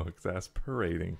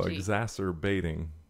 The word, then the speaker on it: exacerbating: There's no P in the word. Okay, well... It says here, okay. I don't see the word in front of me. I'm guessing what word you're trying to pronounce. It's EXACERBATING. Oh, exacerbating.